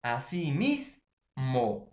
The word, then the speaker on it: asimismo: Así mismo. Entonces, profesor, veamos las reglas generales. Así mismo. Última, penúltima, ¿no? Entonces lleva la mayor fuerza de voz en la penúltima sílaba.